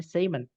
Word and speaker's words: salmon: Tulisannya salmon tapi bacanya salmon.